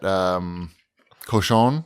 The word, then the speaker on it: Cochon: I had fried ribs at Cochon.